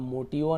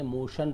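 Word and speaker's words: motion: टी आईन का शन अब मोटव नहीं पढ़ेंगे मोशन पढ़ेंगे है ना इस प्रकार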